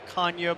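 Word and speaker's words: Canha: pronunciation of his name, he started to explain to us the Portuguese heritage and it's really Kanye, but since we've been in America, our kids have been raised this way.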